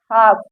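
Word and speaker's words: half: देखिए ए के बाद यल आया है तो यहाँ पर ये यल साइलेंट है। देखिए काफ, हाफ, balm, palm, could, should, walk.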